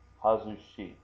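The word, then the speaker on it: 外し: And we're going to leave on this little extra hiragana here, which means it's showing that this is not pronounced gai, this is not pronounced soto, this is pronounced hazushi, okay?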